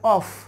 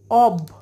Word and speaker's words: of: করবে, সবাই বলবে এটা অফ অফ। প্রথমত কথা হলো এটা অফ না, এটা হচ্ছে অব, অ ব, অ ব, এটা হচ্ছে অব।